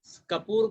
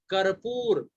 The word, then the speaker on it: कर्पूर: लेकिन कपूर का शाब्दिक, कपूर का शुद्ध हम लोग उच्चारण करेंगे तो तत्सम में उसका आता है कर्पूर। हम लोग कर्पूर उसको बोलेंगे शुद्ध।